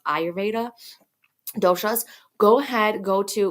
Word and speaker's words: Ayurveda: which is I always pronounce it wrong I pronounce it yeraveda but it's not it's pronounced ayurveda doshas go ahead go to what is her